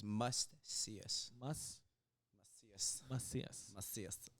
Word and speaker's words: Macias: so lisus l l must us must masas masas say it like that masas that's right BR those girls out bro okay